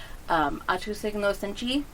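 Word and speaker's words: 愛と正義の戦士: It's pronounced Atu Signo Senchi. It means that it stands for Soldier of Love and Justice.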